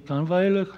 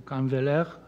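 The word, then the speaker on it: Kahnweiler: dealers, as they were Daniel-Henri Canveller, or Canveller, as the French pronounce it, and Ambroise Vollard.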